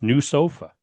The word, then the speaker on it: NWSOFA: NWSOFA, and it's pronounced new sofa, which Hmm.